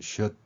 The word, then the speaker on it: should: 또한 l은 여기에서는 소리가 나지 않고 그대로 표현됩니다. 따라서 l은 표현하지 않았고요. d는 우리말 디귿으로 표현했습니다. b는 비읍으로 했고요. e는 이 발음으로 했습니다. 그러면 이렇게 연결되면 should be 이렇게 될 것입니다.